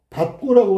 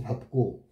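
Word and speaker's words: 밟고: 자, 여기서 얘는 뭐라고 발음해야 돼? 밥고라고 발음해야 되지, 밥고. 그럼 이 발음은 없어지는 거잖아. 이거 리을하고 비읍을 동시에 어떻게 발음해? 미친놈인가? 대단한 슈퍼파워야. 말도 안 돼. 둘 다 소리 날 수가 없죠.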